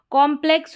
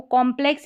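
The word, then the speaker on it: complex: कॉम्प्लेक्स हो गया है, इसको कॉम्प्लेक्स या कम्प्लेक्स दोनों तरीके से प्रोनाउंस कर सकते हैं।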